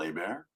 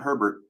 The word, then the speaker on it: Hebert: Mr a bear yes the last name is pronounced a bear not Hebert not Herbert my little brother Johan